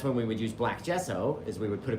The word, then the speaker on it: gesso: And it's spelled with a G, by the way. G SSO instead of a J. It sounds like a J. I agree. I agree. But it's a G.